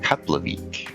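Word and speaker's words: Keflavík: I found it interesting that the F is pronounced more like a B or a P.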